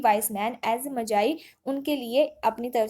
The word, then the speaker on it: Magi: है the gift of मज़ाई, जो कि ओ हेनरी के द्वारा लिखा गया है। सबसे पहले यहाँ पर जो वर्ड है MAGI, इससे मजाई प्रोनाउंसिएशन करते हैं, नॉट मैगी।